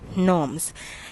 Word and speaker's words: gnomes: o m e s but your g is silent you will not call it or we should not pronounce it as gnomes it will be called as norms in english there are